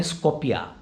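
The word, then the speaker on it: Скопје: उनकी capital city है, उसको वो लोग प्रोनाउंस करते हैं स्कोपिया।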